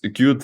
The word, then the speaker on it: Qt: It's pronounced Qt, right? Yep. Qt, yeah, exactly.